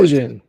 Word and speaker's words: Prigozhin: Prigozhin.